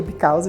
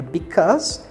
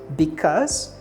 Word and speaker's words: because: pergunta e because pra resposta cuidado com a pronúncia que não vai ser because o que Jamais diga because vai ser because S que esse e também